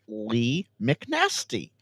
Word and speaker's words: Lee McNasty: It's Lee McNasty.